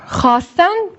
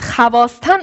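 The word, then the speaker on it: خواستن: Ve bu vav okunmuyor. Bu vav okunmuyor. Sadece yazılıyor ve okunmuyor. Bu okunmayan vavı va medule diyoruz. Ne zaman hfi ve elif harfi arasında bir vav gelirse bu okunmuyor. Yani biz havasten okumuyoruz, hasten okuyoruz.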